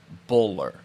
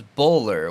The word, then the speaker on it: Bulwer: And everybody in that area calls him Buller. Buller? Yep, but it's spelt Bulwer. Boulware. But okay. In the South, it's Buller, which is kind of funny, right?